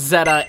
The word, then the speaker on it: Z-A: But it seems that it is Pokemon Legends Zeta. The reason we know this is because the Japanese site kind of gave a pronunciation of it, and it is Zeta. And that actually makes sense because that is the Greek alphabet letter, you know, Zeta.